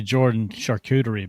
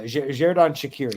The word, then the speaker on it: Xherdan Shaqiri: I was going to say Jordan Charcuterie, but that's because I can't pronounce it. Hey. Just quit when you're ahead. Yeah, Xherdan Shaqiri.